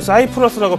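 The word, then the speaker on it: Cyprus: 저도 오늘 새벽에요, 이거 버냉키 연준 의장 생중계하는 거 듣고 있었는데, 미국에서는 이 키프로스를 사이프러스라고 발음하잖아요. 근데 기자회견 거의 끝나는 분위기였는데 갑자기 뭐 사이프러스 딱 이래서 잠이 확 깨면서 들어봤는데 요 내용이더라고요.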